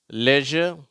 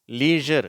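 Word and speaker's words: leisure: பிளேஷர் அடுத்த வரிசை usual லெஷர் இந்த வார்த்தை லீசர் என்றும் உச்சரிக்கப்படுகிறது அடுத்தது மெஷர் இதை அடுத்து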